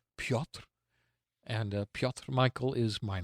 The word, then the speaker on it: Piotr: But if you want to search for me, you can spell my name Piotr, pronounced Piotr.